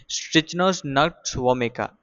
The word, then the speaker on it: Strychnos nux vomica: The pronunciation is a little bit difficult. We'll try it again. Strychnos nux vomica.